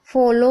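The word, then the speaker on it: follow: देखिए एफ को फ पढ़ रहे हैं और ओ को ओ की मात्रा। डबल एल को ल पढ़ रहे हैं और ओ डब्ल्यू को ओ की मात्रा। तो फॉलो हो गया।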